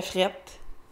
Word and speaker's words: frette: Il fait frette. Prononciation informelle, il fait froid.